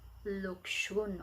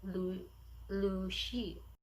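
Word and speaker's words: Lu Xun: of the author, uh, literally we read it Luxun or Lushun, but in Chinese, the pronunciation is Lu Shi.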